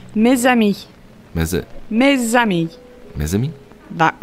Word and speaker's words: mes amis: The pronunciation is mes amis.